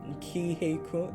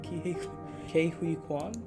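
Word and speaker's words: Ke Huy Quan: Ki-Hei Kwan? How do you say his name? Ke-Huy Quan? I think that's what a video said, but I'm just gonna call him K, because that's his first name.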